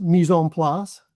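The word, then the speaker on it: mise en place: So how does the concept of missay in place apply to human resources or management context and why is it important for performance discussions? Sure. So if I may it it's pronounced mison plus mislass.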